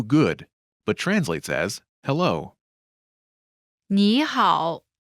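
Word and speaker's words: 你好: but translates as hello knee hall pronunciation note when there are two third tones in a row the first one changes to the second tone listen to the pronunciation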